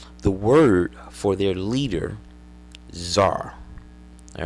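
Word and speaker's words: tsar: word for their leader Zar all right the C is silent Zar okay comes from yeah you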